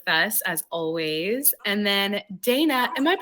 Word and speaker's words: Daynah: And then Daynah, am I pronouncing your name correctly? How do you pronounce Yes. it? Daynah, okay. No, yes, Daynah is correct. And it's spelled beautifully phonetically, so that's Thank perfect.